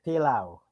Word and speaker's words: pilau: We call it pilau. Is that how they say it? Pilau, yes. Pilau.